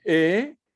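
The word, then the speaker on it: אלהים: Donc, on va dire Elohim. Elohim. Le H ici doit être prononcé.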